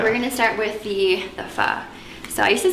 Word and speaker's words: pho: We're gonna start with the pho. So I used to say it wrong. I used to say pho until I realized the correct pronunciation. It's Yeah, pho.